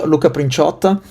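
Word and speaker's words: Luca Princiotta: know, the the the the journalist's feet because pronouncing our name is difficult. This Prin Luca Prinota is a great guitarist.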